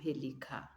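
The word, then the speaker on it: pélican: And the N is silent. Un pelican.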